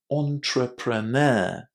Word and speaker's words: entrepreneur: This word comes from French and it has maintained a bit of its French pronunciation. We say it as entrepreneur. Entrepreneur. The big difficulty here is pronouncing this word with the stress on the last syllable entrepreneur and pronouncing that initial e as o entrepreneur.